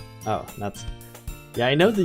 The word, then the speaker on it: Natsuki: There's 4 girls, but Mitsuki is my Alright, I guess we have people who are quite passionate about this. It's pronounced more like Natsuki. Oh, Natsuki.